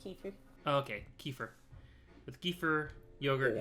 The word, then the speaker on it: kefir: yogurt milk and fruit it's pronounced Key Food okay kefir with kefir